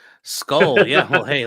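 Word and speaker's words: skål: Skull.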